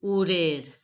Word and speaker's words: horaire: So, responsabilité ni horaire. H is mute, so it is not to be pronounced.